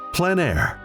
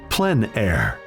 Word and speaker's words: plein air: of outdoor painting called plein air the French coined the term which means open air or outdoors the French pronounce it plenn air others say plein air no matter how you